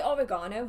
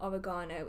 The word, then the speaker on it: oregano: I mean, my oregano has gone absolutely bonkers. Oh, I'm sorry. How do Americans say it? It's not oregano, it's oregano. That's it.